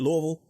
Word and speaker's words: Louisville: with Simon realy in Louisville Kentucky am I pronouncing it right David Louisville that is correct you got it I could tell you talk to someone here before oh yeah I've been corrected before you say Louisville in Louisville and you people look at you